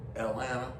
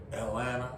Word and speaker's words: Atlanta: some people pronounce it Atlanta, but Atlanta, no T's, just N's.